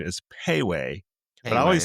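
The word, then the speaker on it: Pei Wei: it's actually I looked it up the exact pronunciation is Piway but I always say pee-wee and I'm like and me and Anna love this place.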